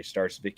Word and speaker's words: Starcevic: Just look up the Motor Startardom Show or my name Starvik. You could spell that last name.